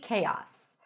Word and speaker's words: chaos: world is in complete chaos. Also, sometimes my house is a complete chaos. Chaos. K. Kos. Kos. And when you combine it, you almost hear as if there is a Y sound pronounced there.